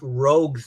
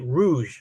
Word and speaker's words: Rogue: uh I I pronounce rogue's name incorrectly yeah that was the first time I ever saw it in writing right and I pronounced it Rouge like the color right instead of it being Rogue and it was always